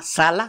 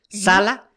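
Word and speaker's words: Salla: ciudad una zona que se llama Sala, se escribe Saya, Sala, se quedaron con ella, parte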